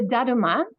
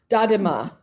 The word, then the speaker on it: Daruma: asking how do you spell it? The Uh, the the little figure with the eyes. oh, the daruma. Dadima.